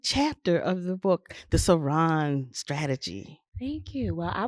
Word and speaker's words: Saran: Also, I'm very accessible via Facebook at just Saran, space SARAN, like Saran wrap, but pronounced Saran.